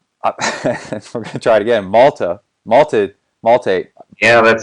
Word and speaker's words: Malte: In Germany, it's Malte, but usually the Americans say Malte, so that's all right. Malto, like maltodextrin. More like malted stuff.